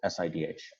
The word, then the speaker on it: SIDH: uh abbreviated sidh and i call it sidh i do not give any uh pronounceable syllable to this acronym if other people want